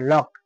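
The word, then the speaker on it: lock: হয় না যেমন দেখো এল ও সি কে লক তাহলে কে আছে কে এর আগে কি সি আছে তাহলে কি এই কির উচ্চারণ সি এর উচ্চারণ লক লক এল ও সি কে এই সি এর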